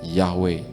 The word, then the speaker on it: Yahweh: Karena tidak ada huruf hidup, maka kita secara tradisi membacanya Yahweh.